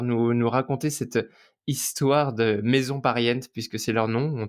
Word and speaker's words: Maison Pariente: nom, en tout cas ça se prononce comme ça? Maison pariente. Ouais, Maison on dit ça pariente. comme ça. Certains mettent un petit accent, mais en disant maison pariente, ça fonctionne très bien.